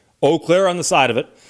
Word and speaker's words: Eau Claire: Tower Park there's a water tower it says oakair on the side of it and I lived